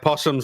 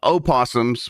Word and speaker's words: opossum: Opossums, which is pronounced possum still. Well, people say opossum too.